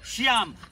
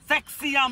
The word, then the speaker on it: শিয়াম: শিয়াম, সেক্সিয়াম না।